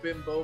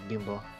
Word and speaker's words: Bimbo: I didn't know it was actually pronounced Bimbo. I thought it was Bimbo. Bimbo, if you're speaking Spanish. Bimbo.